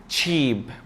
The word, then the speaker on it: cheap: هنجيب مثلا كلمة زي دي وكلمة زي دي، وتعالى نشوف لو نطقنا دي غلط هتبقى عاملة ازاي. كلمة اسمها cheap.